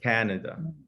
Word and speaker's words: Canada: Now let's add a little American accent to that word. Canada. Canada. Canada. So your mouth is long, and wide. Canada.